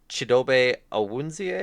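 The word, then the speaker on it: Chidobe Awuzie: Um, they also lose their cornerback Chidobe Awunzie, I believe is how you pronounce it.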